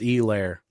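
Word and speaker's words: Helaire: it wrong but yeah it's apparently a hard e clyde edwards e lair so i apologize steve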